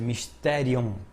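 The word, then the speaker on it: μυστήριον: O conceito bíblico de mistério do grego, que em grego a pronúncia é mysterion.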